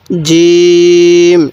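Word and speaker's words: جيم: চিহ্নিত করতে হবে তাহলে এই হরফটির নাম কি জিম শক্ত করে উচ্চারণ করব আর জিমের পেটে এক নক্তা এরপরে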